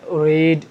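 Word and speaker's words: read: V1 হলে রিড, লম্বা করে, র দীর্ঘইকার।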